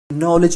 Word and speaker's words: knowledge: नॉलेज की spelling बताना। KNOWLEDGE। साले दगाबाज खुतू ने नॉलेज लिखा है और मुझे कनॉलेज लिखा रहा है। चूतिया इसमें के साइलेंट है।